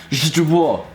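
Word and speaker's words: źdźbło: Je bois. Oh, so you don't really pronounce the first one, like the first one is almost silent, it's je bois.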